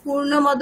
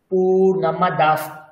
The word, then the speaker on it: পূর্ণমদঃ: ওম একটা একটা করে নিন, আর সবসময় দেখবেন বিসর্গ আছে, তার পাশে প আছে যেহেতু, তো বিসর্গের উচ্চারণ কেমন হবে? হালকা ফ, হাফ ফ, ফ শোনাবে। পূর্ণমদঃ পূর্ণমিদং পূর্ণাৎ পূর্ণমুদচ্যতে, বলুন পূর্ণমদঃ পূর্ণমিদং পূর্ণাৎ।